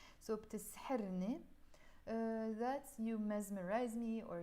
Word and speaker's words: بتسحرني: And the ni, which we pronounce as more ne in Lebanese when I'm speaking in real life. So بتسحرني, that's you mesmerize me or you charm me.